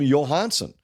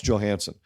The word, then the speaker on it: Johansson: was this well it Marcus Johansson is an example when he was in Washington they all called him Johansson and when he came here I went to him asked him he said no it's Johansson and so every time